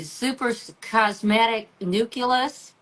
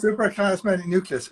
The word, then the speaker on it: suprachiasmatic nucleus: Um, okay, early in your career, you led this team and you located, pronounce that for me, suprachiasmatic nucleus. Is that Very correct? good. Yes, No, suprachiasmatic nucleus.